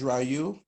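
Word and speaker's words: Joyeux: good afternoon mark forget my name is Raju j-o-y-e-u-x is French a lot of folk cannot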